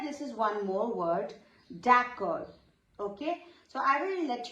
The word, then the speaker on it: d'accord: But here you have to focus on the full pronunciation, d'accord. Okay, d'accord. So D is silent here and usually R gives you K sound, K.